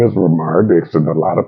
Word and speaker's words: RaMaar: My name is Romar Dixon, and a lot of people know me as Mar Dixon.